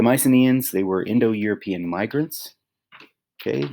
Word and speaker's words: Mycenaeans: the very first greeks okay pronounced my c neons okay the mycenaeans they were indo-european migrants